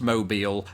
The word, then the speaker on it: Mobile: there's a city spelled exactly the same way pronounced mobile and that is why this word makes my